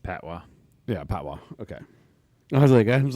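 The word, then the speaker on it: patois: it's in Jamaican pys but that's it's not Pat toys it's like oh yeah it's pronounced pwa yeah pwa okay I was like I was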